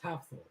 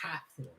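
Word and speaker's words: Hafþór: But I think his first name is pronounced half Thor. Yeah. Like half Thor.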